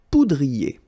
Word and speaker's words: poudrier: Okay, remember, O-U, ou, pou, poudrier.